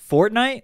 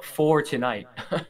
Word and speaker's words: For Tonight: for tonight by gibeon fortnite no four tonight now you're saying it wrong it's fortnite four tonight oh okay